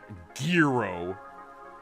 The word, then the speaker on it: gyro: I'm not doing a hard G. Gyro. It's like Euro. And there's like a little hint of a G in there.